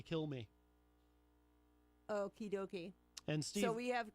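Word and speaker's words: Kilmeade: I read somewhere that the D and his name is silent and it's actually kill me okey-dokey and so we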